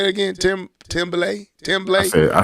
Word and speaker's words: Tremblay: Timblay? I say Tremblay.